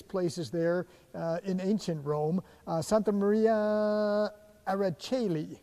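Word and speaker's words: Santa Maria in Aracoeli: Santa Maria Araceli, I think that's how you say it, in San Clemente. That's correct.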